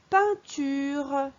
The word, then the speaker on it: peinture: Sur la deuxième image, c'est la peinture. Peinture. Là, le son 1 s'écrit E-I-N.